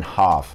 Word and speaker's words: half: But even if it was, like, let's say British English, it would have been half. You never pronounce the L in that word.